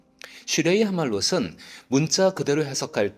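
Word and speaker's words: שיר המעלות: 이 제목은 히브리어로 슈레이 하말롯이라고 발음됩니다. 슈레이 하말롯은 문자 그대로 해석할 때 히브리 순례자들이 성대한 예배 축제가 열리는 예루살렘으로 가는 여정 중에 순서대로 불렀던 노래로 보입니다.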